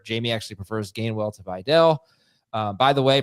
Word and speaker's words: Vidal: Jamie actually prefers Gainwell to Videll. By the way, pronunciation cops, pronunciation police. It is Videl, not Vidal.